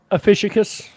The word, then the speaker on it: Ophiuchus: Ophiuchus. In my how life, did you pronounce it? Ophiuchus.